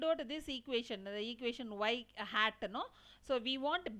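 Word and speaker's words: ŷ: Okay, so we have to pronounce as y hat is the point estimator, and some people will pronounce like y cap.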